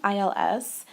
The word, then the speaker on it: ils: now please note that this is pronounced the same way as the singular he because we don't pronounce the s at the end so and il pronounce